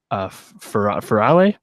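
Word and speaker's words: Ferrante: And it's a 8-episode miniseries adaptation of the first book in the Neapolitan series by Elena Ferrale, I think is how you say it.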